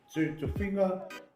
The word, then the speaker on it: Tofiga: Yeah, Tofiga, which is spelled Tofiga. A lot of people pronounce it Tofiga because we pronounce our G's with like there's an N before it.